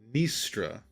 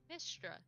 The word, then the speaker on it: Mystra: And another party member named Mistra. Istra. Excuse me? Became his new love interest after midnight. Could you spell that? Mystra. Oh, Nistra. Okay. Mistra.